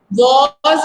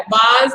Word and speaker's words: was: वॉज होता है, बाज नहीं होता, ठीक है। WAS क्या होता है? वॉज, ठीक है, बाज नहीं बोलना है उसको।